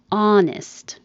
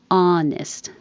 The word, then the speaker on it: honest: Honest. You don't say the H at all, just the vowel ah. Honest. Straight ah. Lips straight, jaw open. Honest.